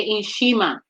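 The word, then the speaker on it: nshima: it so you'd say n s h i m a okay in shima okay right because i'm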